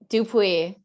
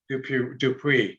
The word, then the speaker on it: Dupuis: do it properly dupuis dupreeh yeah i would have got it wrong and i looked at it i would have pronounced it wrong so i'm glad i let you pronounce it there's no r a lot of people